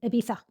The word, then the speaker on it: Ibiza: This one is Ibiza. Ibiza if you want to do the Castillian pronunciation. Ebiza.